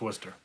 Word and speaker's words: Worcester: I saw a lot of concerts up in Worcester, actually. And by the way, if you look in chat, Clean Money says that's actually the pronunciation of that city is Worcester, Worcester, but it's pronounced Worcester.